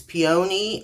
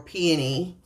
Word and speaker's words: peony: a 28 count peony you can pronounce in one of two ways peony or peony and I pronounce it peony and this is what